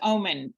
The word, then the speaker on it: Oomen: I'm saying this right umen is that correct it's actually pronounced like the word it's pronounced Omen that's intuitive don't worry